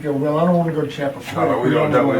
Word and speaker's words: Chappaqua: I can spell it, I just can't pronounce it, but it's in New York, so. Yeah, that's something. Chappaqua.